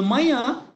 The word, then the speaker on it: Maillard: Okay, we will pronounce it as Maillard, but the French pronunciation is Maya. So Maya, Pascal Maya, his name, I know this guy.